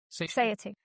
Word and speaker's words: satiety: triggering ultimate uh sati- How do you pronounce that word? Sati- sati- sati- Satiety.